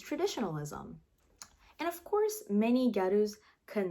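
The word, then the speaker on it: ギャル: Because they couldn't pronounce girl, it changed to gyaru.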